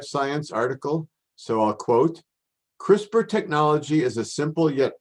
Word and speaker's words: CRISPR: in common usage crispr which is the letters c-r-i-s-p-r but is pronounced like i'm saying a crispr really is